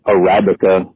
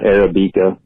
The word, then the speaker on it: Arabica: First of all, it's pronounced Arabica, not Arabica.